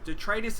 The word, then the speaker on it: detritus: So let's look up that word detritus. I was actually saying it wrong when I first played this game. The dog is making noise. Detritus is waste material.